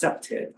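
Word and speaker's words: CPTED: It's pronounced CEPTID, so it's crime prevention through environmental design.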